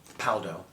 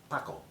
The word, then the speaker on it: Paldo: Paldo. That's how the Americans, it's Paldo. But in Korea, I've heard them say it, it's like Paco. They only say Paldo, it's like Paco.